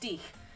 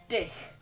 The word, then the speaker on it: dich: I still think, I checked with my mum who studied German and she said it's pronounced dich, not dich.